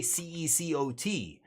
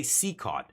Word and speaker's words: CECOT: Seacaught, because it's the way you say it. You don't say CECOT. You say Seacaught.